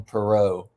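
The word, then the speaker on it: Perreault: this is a steal I think he pronounced his last name Perot but don't quote us on that don't crucify Us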